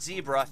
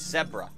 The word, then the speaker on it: zebra: Because it's not zebra, it's zebra. That's how it's actually pronounced. It's not zebra, it's zebra. Like you would say Deborah.